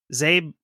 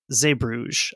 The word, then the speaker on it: Zeebrugge: The Dutch pronunciation is like Zeebrugge. No thanks. It's like a voiced velar fricative. It's like a sound we don't have in English. But the French pronunciation of that is Zeebrugge, I believe.